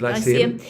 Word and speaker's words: Lyceum: Yes, the Lyceum.